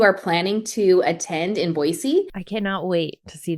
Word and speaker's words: Boise: I know somebody else in my comments mentioned it's Boise and not Boise.